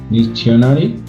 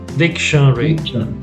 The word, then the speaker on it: dictionary: Dictionary. Dictionary. Dictionary. 3 syllables. Dictionary.